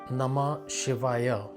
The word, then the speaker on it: Namah Shivaya: It's Namah Shivaya. Now, this mantra consists of 7 syllables. Namah Shivaya.